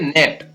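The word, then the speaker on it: gnat: इसी प्रकार यहाँ पर भी पहले है, इसको पढ़ेंगे नेट, NAT, नेट, यहाँ पर ये जी है वो साइलेंट रहेगा।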